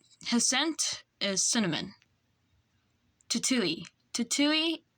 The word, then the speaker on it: Tutui: Tutui is pronounced Tui.